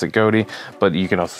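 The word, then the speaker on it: Ghoti: goatee cards and uh it's official pronunciation is goatee I do have a I haven't seen a uh Yu-Gi-Oh official TCG video where they do pronounce it goatee but you can also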